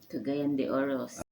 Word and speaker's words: Cagayan de Oro: Cagayan de Oro.